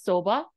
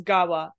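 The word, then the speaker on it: 側: word gawa means side this same kanji can be pronounced as soba just just letting you know that randomly um but it's pronounced as gawa on the next page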